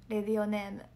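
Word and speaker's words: レディオネーム: これはラジオネームじゃなくてレディオネームです。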